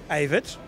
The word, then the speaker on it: Evert: Evert. Yeah. Spell it.